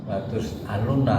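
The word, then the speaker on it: لتسألن: Lanya tuh latus alunna, ya, kepastian Allah itu latus alunna lah. Tapi kalau kita bacanya kepanjangan latus alunna, artinya sudah beda. Jadi ya jangan dibaca panjang ya, karena ini Allah. Yang dibacanya yang pendek.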